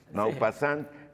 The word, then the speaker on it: Maupassant: bola de cebo Ah le digo maupassant maupassant ya bien pronunciado es mo no y entonces pues no